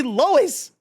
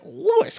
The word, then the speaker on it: Lois: They all say Lois. They all say it. They tell you how to pronounce it from the first episode. And you're like, Lewis Griffin.